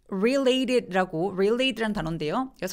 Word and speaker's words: related: 자 볼게요 무슨 말이냐면 related라고 관련되어 있다라는 뜻이죠 그래서 강세가 레이의 부분에 오거든요 자 엘 발음은 여러분